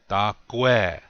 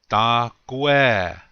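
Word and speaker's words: takúwe: Notice that the accent is on the second syllable. Gu. Dakwe. You say it really quick. Dakwe. Repeat after me, please. Dakwe.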